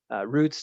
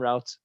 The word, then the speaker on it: routes: Roots, not routes, but that's fine. In football, they call them routes.